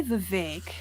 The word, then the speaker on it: Vivek: Won't be Vivek. Rhymes with cake.